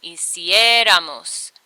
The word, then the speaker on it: hiciéramos: So it would be hiciera, hicieras, hiciera, hiciéramos, and there would be an accent on the I, hiciéramos, because that's the last vowel of the stem.